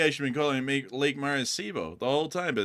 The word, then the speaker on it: Maracaibo: They said Lake Maracaibo is pronounced Lake Maracaibo.